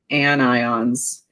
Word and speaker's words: anion: If that doesn't work, the other option I have is that, and even though you don't pronounce it onion, everyone wants to pronounce it onion. So anions, like onions, make you cry because they're so negative.